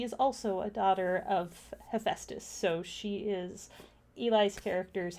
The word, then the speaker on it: Hephaestus: I'm gonna pronounce this wrong. Hephaestus. Uh, Okay. Hephaestus.